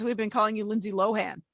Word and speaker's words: Lohan: Everybody has always said Lindsay Lohan. And she was like, well, it's actually Lindsay Lohan. So there you go. That's how that's pronounced. Well, thank you, Lindsay. I didn't know that. I would have assumed it was Lohan.